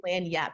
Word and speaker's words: lagniappe: right away, which is lagniappe. It actually, if you wanted to Google it, is spelled login-nappe. Like, that is what it looks like, but it is lagniappe.